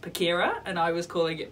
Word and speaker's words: Pachira: Thank you to whoever commented on our last vlog saying actually it's pronounced Pachira and I was calling it Pachira. It's named after a plant and so it's Latin and hence no cha.